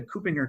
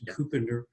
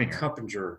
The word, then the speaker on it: Kuppinger: that's a mouthful yeah good job pronouncing it copinger copinger not CER which I've said before CER so but yeah it's co copinger as I learned today so already a